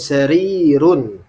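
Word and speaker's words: سرير: sarirun seperti itu ya dengan Ya Sukun sarirun ya bacanya harus benar had kursiyun ya dengan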